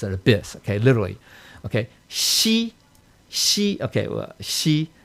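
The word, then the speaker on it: 兮: She, this is pronounced she, X-I, right? She.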